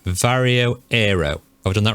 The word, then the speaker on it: Varjo Aero: So it's Varjo. It's Varjo Aero. Yeah, I knew it no matter what I said. According to a Varjo representative, that's how you pronounce it. Varjo Aero, yeah.